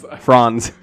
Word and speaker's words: Franz: like franz is uh franz is that how it would be pronounced in german i suppose that's correct friends friends franz he hit franz with